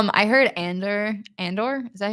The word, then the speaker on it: Andor: I heard Andor.